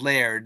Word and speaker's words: Laird: Also, just uh to correct my the names my name's pronounced Leairard. It has air right in the middle of it.